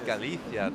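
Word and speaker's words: Galicia: rest of this like i like the way you pronounce galithia too real like a real spaniard and then jonathan on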